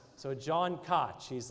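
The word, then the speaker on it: Kotch: I've been pronouncing him as John Notch for months. And then last night I sent a text out about him, and he texted me back, LOL, my name is Koch, K-O-T-C-H.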